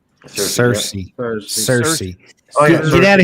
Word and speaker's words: Searcy: A deer hunter encounters what he believes to be several Bigfoot, possibly a family unit near, is it Searcy? Is that how you say it? Yep. Cersei.